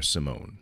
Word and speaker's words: Simon: So let's start with this brief history of intelligence tests that includes Binet and Simon, or Simone, depending on how fancy you want to get and bougie pronouncing names.